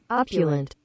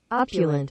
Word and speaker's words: opulent: We nailed it. Opulent. Opulent. Google's from Nebraska. Opulent. But in the pronunciation, sounds like AA.PYOO. Yeah, the English language is so weird. It is dumb. Like it should be opulent. Very strange. Yeah. Opulent. Opulent. But it's like, nah, it's got an awe on it, man.